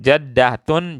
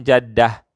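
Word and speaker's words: جدة: Kalau yang tertutup seperti ini, maka kita bacanya ha kalau berhenti. Ya, saya contohkan. Jaddatun jaddah, syaukatun syaukah, ibnatun ibnah. Nah, tadi tidak ada taknya, sekarang ada taknya.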